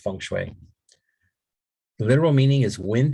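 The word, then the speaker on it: feng shui: fun I know English people want to say fangu right but it's pronounced funu the literal meaning is wind and water which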